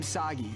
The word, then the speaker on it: Sagi: This is kind of overdue, but I'm Sagi. Rhymes with Saki.